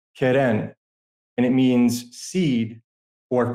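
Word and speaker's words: קרן: And this word in Hebrew is pronounced Keren, and it means seed or corn.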